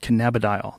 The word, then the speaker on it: cannabidiol: Cannabidiol.